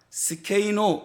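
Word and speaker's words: σκηνόω: 헬라어에는 SH 발음이 없어요. 어떤 철자를 결합시켜도 발음을 만들어낼 수가 없어요. 헬라어는. 근데 히브리어는 발음이 있잖아요. 그러니까 쉐키나를 발음할 수 없으니까 어쩔 수 없이 스케이노 이렇게 쓴 거예요.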